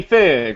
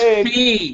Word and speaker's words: Feig: So he's like a whiny fig, right?